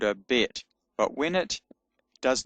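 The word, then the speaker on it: בּ: So, when it's uh got a hard sound with the dot in it, signified by the dot in it, it's pronounced B. So, it's called a bet.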